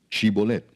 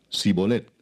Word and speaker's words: shibolet: Si él respondía, "No, entonces le decían, "Ahora pues di shibolet." Y él decía, "Sibolet, porque no podía pronunciarlo correctamente."